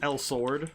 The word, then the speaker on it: Elsword: I'm in the camera that's pronounced l sword like the just because it breaking it up by the two words make sense with how